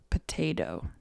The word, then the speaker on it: potato: it's generally correct to pronounce the first T as a T, t, t, t, and the second T as a D, da, da, da. So potato.